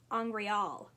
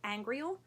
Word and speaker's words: angreal: the glossery says that its pronunciation is angreal with the last syllable stressed this is a just